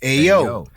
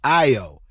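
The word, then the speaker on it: Ayo: And I pronounce it, of course, I'm from New York, so I pronounce it as AO. You know what I'm saying? But it's really pronounced IO.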